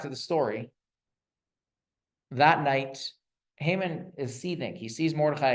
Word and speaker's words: Haman: Haman. I use the Hebrew pronunciation.